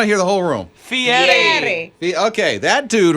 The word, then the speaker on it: Fieri: Fieri. Oh, no. Okay. Fieri. How do you say it? I want to hear the whole room. Fieri.